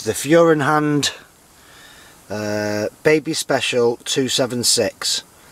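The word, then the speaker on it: Feuerhand: It's the Furenhand Baby Special 276. Furenhand is spelt F-E-U-E-R-H-A-N-D.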